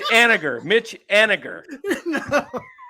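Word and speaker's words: Haniger: It's actually Aniger. It's Aniger. Mitch Aniger. No. Aniger.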